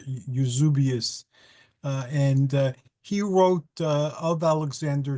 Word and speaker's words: Eusebius: There was a book written by, in Greek it's Eusebius, but I think in English they pronounce it Eusebius or Eusebius.